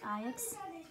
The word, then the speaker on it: Ajax: Ajax, Ajax, aqui é pronunciado Ajax, e ele gosta muito desse time aqui, Feyenoord, Rotterdam, né?